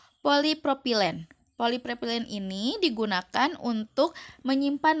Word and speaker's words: polipropilen: Dibacanya polipropilen.